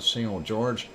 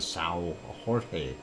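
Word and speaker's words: São Jorge: on the island of single George or if you want to pronounce it in us um Portuguese and it's a Sal Jorge Sal Jorge and uh anyway there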